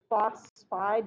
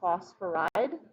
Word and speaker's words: phosphide: So the only thing you got wrong was phosphide, not phosphoride. So anytime we have, anytime we change the ending to "ide", we usually have two syllables, so phosphide rather than phosphoride.